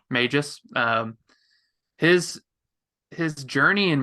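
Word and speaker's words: Mejis: May his or Mages do they pronounce the h I think the J is an H there yeah Mages um his his journey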